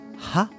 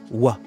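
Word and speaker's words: は: Alors attention, la particule, vous voyez, on utilise le hiragana ha, mais ça se prononce wa.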